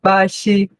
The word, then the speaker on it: 巴西: Então, o mais próximo de pronúncia seria Bashi, ok?